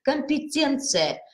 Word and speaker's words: компетенция: уже и логопедии дальше слова компетентный компетенция т-только мягко мы с вами должны произносить это слово частот над нашим с